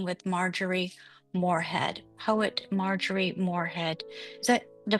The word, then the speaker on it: Moorhead: Poet Marjorie Morehead. Is that the correct pronunciation? Yeah. Morehead.